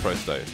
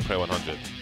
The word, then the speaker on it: Pro100: I like that we know it's Prosto, and we're not saying Pro100. Makes me happy.